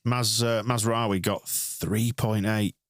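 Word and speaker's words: Mazraoui: They're on the verge of put Tom Heaton in right Maz Mazawi got 3.8. Say it properly please. Mazawi.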